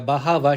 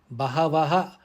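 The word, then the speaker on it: बहवः: Bahavaha, it's pronounced as Bahava because Bahavaha is appearing within the pada.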